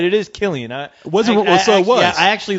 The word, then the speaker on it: Cillian: I'm telling you, he looks like Cillian Murphy, man. Not that picture that he has right there. So you got a thing for Cillian, which you are right. It is Cillian.